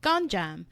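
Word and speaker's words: Gonjiam: my next recommendation or mention is from 2018 gjam right is that how you pronounce it yeah the haunted Asylum gjam so I want to talk a little bit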